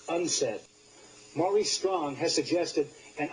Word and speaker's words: UNCED: Nations committee for environment and development it is pronounced unsa Mai strong has suggested an ominous scenario at